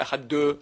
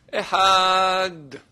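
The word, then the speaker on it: אחד: On ne dit pas Echad 2, Shtaim, Shalosh, n'est-ce pas? Alors, il ne faut pas faire Echad 2. Echad. Il faut prononcer le D.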